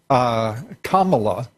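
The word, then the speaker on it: Kamala: the story keeps progressing comma law I'm told is the correct pronunciation for Senator Harris and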